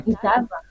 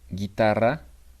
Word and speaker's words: guitarra: guitarra. We Yes, have G, yes. U, A. Guapa. We pronounce the U. Guitarra. We don't pronounce the U. Guitarra.